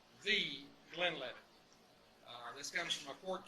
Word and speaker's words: Glenlivet: Now, the Glenlivet, it is pronounced the Glenlivet.